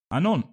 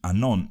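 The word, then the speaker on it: Hannon: otro brillante general cartaginense anón se escribe h a nn o n y ahora veamos una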